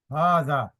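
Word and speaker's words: هٰذا: یہ لکھا ہوا ہے کہ ہاذا is pronounced ہاذا but it's written without the first alf.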